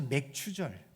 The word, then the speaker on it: 맥추: 되는 날이 절기를 지켰기에 오순절 이라고도 불렀습니다 그래서 맥추절 77절 오순절은 같은 날임을 여러분들이 기억하셨으면 좋을 것